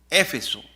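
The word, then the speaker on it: Éfeso: Eso es lo que significa Efeso en acento en la E.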